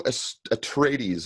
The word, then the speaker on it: Atreides: Let's go to Duke Leto Atreides. Am I pronouncing that correctly?